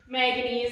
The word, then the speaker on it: manganese: If you have a hard time trying to remember manganese, it also rhymes with mac and cheese, but it's not the same color as it.